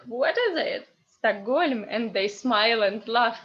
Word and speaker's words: Stockholm: So, or, this or is stressed. So this or is unstressed. So sta. And normally, if you have in English this lovely letter H, in Russian it becomes G, stuck, G, Stockholm. And another funny example is